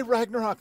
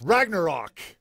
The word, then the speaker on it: Ragnarok: Don't say Ragnarok like that. It's Ragnarok. You got to say it like a Viking chieftain.